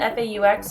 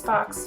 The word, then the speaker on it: faux: And now I'm going in with a MAC lipstick, and I believe this one is, it's spelled F-A-U-X, so it's Fox, Faux, I don't know.